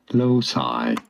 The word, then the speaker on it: loci: Losi I think it's Lucy that's the Losi method loci method I need to Google that see let's see pronounce low C method English this is most often pronounced as low side the loci method it's